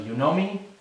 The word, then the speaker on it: Yonomi: So Yonomi, if you haven't downloaded it, it's spelled Y-O-N-O-M-I.